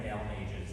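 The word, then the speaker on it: Balmages: So our next work that we're going to close our intermediate orchestra portion of the program with is by Brian Dalmages. That's how you pronounce his last name.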